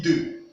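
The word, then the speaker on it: deux: Parce qu'en français, EU, X, se prononce comme EU, se prononce E. Donc, ici nous avons E, nous avons aussi ceci qui se prononce E, ceci aussi se prononce E. Voilà pourquoi ici nous prononçons ceci 2.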